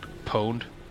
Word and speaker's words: pwned: Pwned? Right? Yeah. Right. So I say The O is silent. Why is the O silent then?